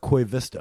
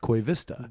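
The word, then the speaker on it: Koivisto: i was like man it is an o at the end of his name but it's pronounced koi vista didn't know that so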